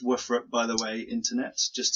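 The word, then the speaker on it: WFRP: and steel our were frappe show it is pronounced woofer up by the way internet just to let you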